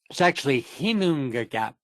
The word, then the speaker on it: Ginnungagap: In the boundless abyss of the mundane pit, the Ginnungagap. It's actually Hinungagap. Of course, why would it be pronounced with a G if it's an H?